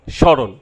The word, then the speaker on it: স্মরণ: শব্দের আদিতে মফলা যুক্ত হলে সেই ম অনুচ্চারিত থাকে, যেমন স্মৃতি, স্মরণ।